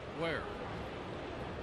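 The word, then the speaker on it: Weir: out of where mississippi spells w-e-i-r pronounced where who played first base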